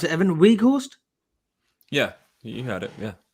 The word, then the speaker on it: Weghorst: Surprisingly, I thought Konate would come in because of the physicality of how do you pronounce it, Evan? Weghorst? Yeah, you had it. Yeah. Yeah, Weghorst.